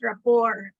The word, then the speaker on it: rapport: Many people say big words like establish rapport. Sure, but how many people are sure if rapport has two P's or one P and why the T is not pronounced?